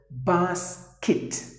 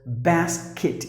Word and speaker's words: basket: There are two ways to pronounce the word. If you go to UK, they would pronounce the word as basket. Basket. But if you go to US, the Americans would pronounce the word as basket. Either way, it is not cat. It is just imagine that instead of the letter E, there is a letter I. Just pronounce it basket or basket.